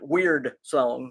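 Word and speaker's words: Wyrdsong: rpg that is called weird song now it's spelled w-y-r-d-s-o-n-g but he pronounces it weird song so uh it is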